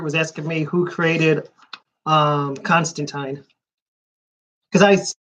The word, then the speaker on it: Constantine: main character is Constantine it's not Constantine he's not Russian he's not American he's English why would he pronounce it like a Russian if he's English in English and Russians